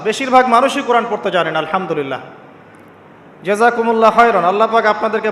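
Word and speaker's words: الحمد لله: আলহামদুলিল্লাহ। এই হা এর মাখরাজ কোথায়? হা এর মাখরাজ কোথায়? বলেন একজন কন্ঠনালীর মাঝখান থেকে এখান থেকে আপনি উচ্চারণ করছেন আলহামদুলিল্লাহি রাব্বিল আলামিন অর্থ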